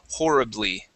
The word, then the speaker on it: horribly: doesn't yeah and and we have some words that start with an ho like our honor okay honorable and and that we don't pronounce the h there and so it's hard to know even when you have an O there but yes this is this would be horribly okay so we do